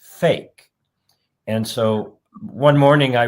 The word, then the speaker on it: PHEIC: PHEIC in English, it's pronounced fake.